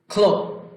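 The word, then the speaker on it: clock: সি ফর খা, কোন শব্দের শুরুতে সি থাকলে সেটার উচ্চারণ হবে খ। ক্লক, ক্লক, ক্লক ঘড়ি।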